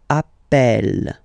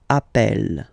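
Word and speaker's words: appelle: the pronunciation of uh you tend to pronounce it like e e really open that's the reason why you pronounce it Appel Appel okay Appel Appel Appel and Appel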